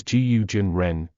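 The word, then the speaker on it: 蛊真人: another name DS gu the Chinese name is pronounced as guu Jin Ren gu is the name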